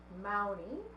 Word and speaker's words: Mowney: And along with Kathy and Angie, we have Mowney. Did I say it right? Yeah. Rhymes with Brownie.